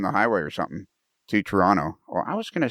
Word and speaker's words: Toronto: The second T is silent, Toronto.